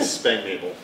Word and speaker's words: Spanknabel: The English version is Spanknabel. Spanknabel. Yes. So and accent on the second syllable. Yes. And in German, it's Spanknabel. So Spanknabel.